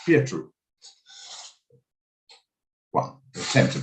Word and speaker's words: Pietro: Trying to pronounce it properly. Kept saying Petro. Pietro.